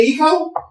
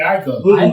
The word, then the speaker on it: Aiko: I said Janae Aiko. It's not Ico though.